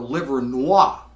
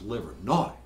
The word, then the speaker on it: Livernois: want directions to Bakers do not ask for liver Noir that's the way it's spelled it's pronounced liver not all right Bankers Keyboard Lounge started off in